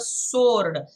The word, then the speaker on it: sword: The pen is mightier than the sword. S-W-O-R-D is sword. It ain't sword. The W is silent there.